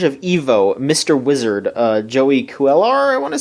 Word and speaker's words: Cuellar: Wizard, Joey Cuellar, I want to say is how you say